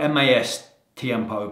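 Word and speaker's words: Más Tiempo: what I did there Mass Tempo is spelled m-a-s Tiempo but Mass add on S mastiempo also stands for more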